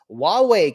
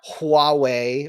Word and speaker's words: Huawei: Huawei can build chips, not Huawei or it's pronounced Huawei."